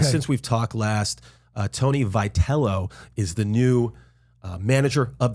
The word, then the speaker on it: Vitello: Well, first of all, I keep wanting to call him Vitello, but apparently I just pronounce Vitello, but he goes Vitello. Vitello, and this is how you can remember out there, guys. And if you're old enough, Jack Atkins, one of those. Remember Vitalis? Mm-hmm.